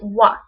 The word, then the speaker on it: は: this now you notice the wa here is actually the wa is more is the hiragana for her but in this instance because it's used as a particle you use it you pronounce it as what so it's blank blank